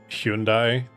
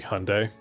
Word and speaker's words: Hyundai: It's kind of like I I know it's supposed to be pronounced Hyundai, but because of the way it was marketed, like I I I say Hyundai.